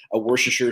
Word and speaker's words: Worcestershire: And I guess it's like a Worcestershire sauce. Look at me pronounce it correctly.